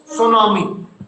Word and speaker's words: tsunami: TSUNAMI, इसको बोलते हैं, पता बेटा क्या बोलते हैं? सुनामी। स्पेलिंग स्टार्ट है टी से, तो टी इज साइलेंट।